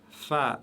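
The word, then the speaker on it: فاء: Fa, fa, toujours légère, aucune exception, c'est le F de la langue française prononcé légèrement.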